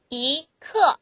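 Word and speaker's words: 一刻: 쿼터의 개념이라고 생각하시 면 돼요 그러면 그건 15분에게 발음하죠 이크 15분이 그다음 45분에는 경요 그게 세 개 모이면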